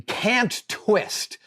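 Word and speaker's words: Kant-Twist: But my go-to clamp, my every single day clamp, is the Cant Twist. That's spelled K-A-N-T Twist, made by Clamp Co.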